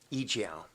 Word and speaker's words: EO: sale of that that e-jow here in the United States as just our effort to sort of turn the tide? You say the leading importers in the world, and it's pronounced e-jow? E-jow.